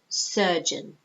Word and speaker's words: surgeon: meant said in certain notice the pronunciation it's sir ER kind of sound surgeon okay and then you've